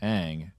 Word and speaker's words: Aang: I spent 3 years watching this series on animated TV and hearing his name said as Aang, and then you create a movie and you change his name.